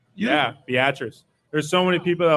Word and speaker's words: Beatrice: Is that how it's pronounced? Yeah, Beatrice. There's so many people that would say Beatrice or Beat Rice.